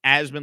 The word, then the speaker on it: Asman: I like to tell people it's Asman like Jasmine.